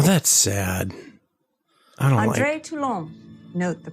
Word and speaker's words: Toulon: I don't Andre Toulon. Note the pronunciation.